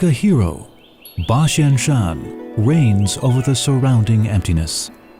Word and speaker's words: Basianshan: The pronunciation of 8,000 in Japanese, Hatsen, is similar to Basian in Mandarin. Shan is Mandarin for mountain, hence the name Basianshan.